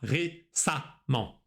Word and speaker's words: récemment: И тут замечаем, что récemment пишется через «э», но произносится «а», récemment.